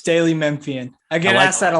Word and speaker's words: Daily Memphian: Is it Daily Memphian? Is that how we pronounce that, Drew? Yes, Daily Memphian.